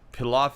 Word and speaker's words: pilaf: I think Pilaf is always pronounced with the P sound instead of an F.